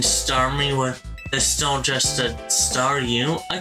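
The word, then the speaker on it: Staryu: But back when I was a kid, and Starmie was still just a Star U, I could never pronounce its name right. It always ended up sounding like Saw You.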